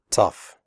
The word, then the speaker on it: tough: The O-U-G-H in tough is pronounced uff, like in stuff.